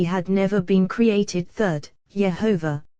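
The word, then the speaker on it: יהוה: Third, Yehovah, pronounced Elohim, as has been said, compassion, from which judgment issues.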